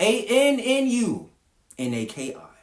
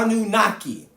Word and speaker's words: Anunnaki: That is spelled A N U N A K I.